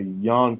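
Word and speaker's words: yuan: going on out there it's called y-a-u-n in china say yawn currency there we go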